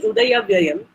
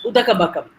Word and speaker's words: Udayavyayam: So instead of saying Udayavyayam, the student says Udakabakam. It's a mispronunciation of the Pali word.